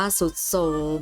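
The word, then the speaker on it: ทรุดโทรม: ไป ค่ะ ทรุด โทรม ทรุด โทรม อ่าน ว่า สุด โทรม ณ หาด ทราย อาจ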